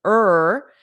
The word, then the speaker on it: her: You just drop that H. It's you're left with er.